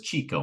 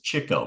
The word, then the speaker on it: Chico: terrible I always used to think that was Chico marks but it's Chico marks yeah yeah that's how it's pronounced uh you know these were Jewish guys